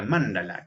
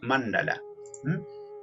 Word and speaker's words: mandala: ante esa deidad suprema vamos con otra palabrita mándala que no se dice mándala lleva acento en la primera sílaba mandala mandala mandala acá vemos que tienen